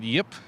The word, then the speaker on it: Yip: Behind me is Immortals, but next to me is Robert Yip. I did that right? Very good pronunciation.